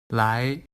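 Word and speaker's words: 来: the model word for the second tone is lie meaning to come or in some contexts to do listen to its pronunciation lie lie here are some tone combinations with second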